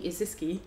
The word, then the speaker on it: Izycky: okay all right so i am uh isiski um so what do i do um i'm